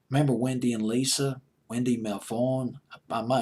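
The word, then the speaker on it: Melvoin: Coleman sang backup remember Wendy and Lisa Wendy Mel Vaughn by my name is pronounced her last name Lisa the keyboard player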